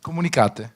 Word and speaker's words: Communicate: Okay. Comunicate. Comunicate. In italiano. In italiano, perfetto.